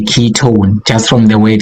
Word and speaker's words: ketone: at the end o so we want an own sound when we pronounce it just like a key ton key or sound at